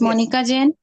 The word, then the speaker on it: Monica Jan: you so much uh Mrs monik J or Jane sorry if I'm saying it wrong forgive me yes ma'am my name is Monica Jan I'm from Kota Rajasthan